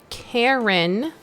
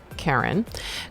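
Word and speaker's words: Charen: and the info about her says Karen but it's spelled c-h-a-r-e-n pronounced Karen Kearns is a newly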